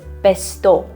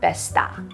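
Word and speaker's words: Bestå: in on a secret it's pronounced besto not besta oops so proof that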